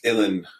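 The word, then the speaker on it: uilleann: something it's it's pronounced Ellen and uh oh yeah rhymes with chilling and uh it's it's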